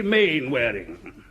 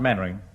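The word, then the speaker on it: Mainwaring: Square you must be main wearing oh how do do Colonel actually it's pronounced mannering and why the hell do you spell it mean whereing lot of nonsense sit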